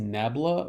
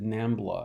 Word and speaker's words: nabla: plane has, I believe the upside down triangle is pronounced nabla, or is it nambla? I think it's nabla.